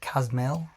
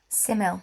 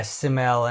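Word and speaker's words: Ksamil: There's probably some nicer spots down south like we recommend what it Kasmill simile simile sorry with a cage but it's a silent K I think yeah Siml and a couple of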